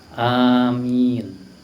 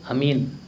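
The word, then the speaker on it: Āmīn: riwayat manaun juga Iya cukup kita ucapkan apa Amin Iya itu pengucapan yang benar a dua ketuk Min boleh diucapkan sampai enam ketuk ya Kenapa karena itu disebut dalam ilmu tajwid apa Mad Arid lisukun i yang salah itu Amin kalau Amin artinya beda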